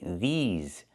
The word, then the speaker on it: these: But if I talk about pants I have to say these these pants. And I use a long e like green beans plus the zz sound like in zebra with a voice vibration.